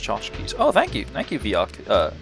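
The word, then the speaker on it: tchotchke: To chachki. Yiddish lone word synonym to knickknacks pronounced chachkis.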